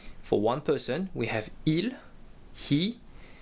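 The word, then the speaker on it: ils: minute um we have IL which is they for males and we have L which is they for females and they have an S at the end but we do not pronounce them so I repeat v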